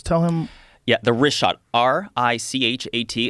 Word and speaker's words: Richat: Tell him Yeah, the Richat R I C H A T. It's worth mentioning that Yeah, in the first couple I just want to say it's Richat. I used to call it Ricat.